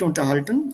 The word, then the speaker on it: unterhalten: So, apart from that, sich unterhalten, and that's already here. Wir uns, reflexiv. So, wir haben uns über unseren Sommerurlaub unterhalten. Stress is on the second syllable.